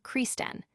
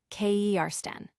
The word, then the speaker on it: Kirsten: Additionally, the piece touches upon Kirsten Dunst's earlier comments about her name being frequently mispronounced as Kersten or Kristen, when the correct pronunciation is Kersten.